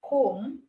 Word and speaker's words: comb: all right we have comb we have doubt we have subtle so com B in com is silence you don't say com you say com that's the word com doubt the B is